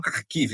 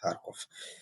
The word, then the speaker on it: Kharkiv: Ou pessoas falam Kharkiv, né? Porque a mídia cisma de falar em ucraniano, mas enfim, a pronúncia russa é Kharkov.